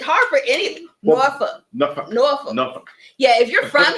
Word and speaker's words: Norfolk: Well, there's an L in there, but apparently you don't say that.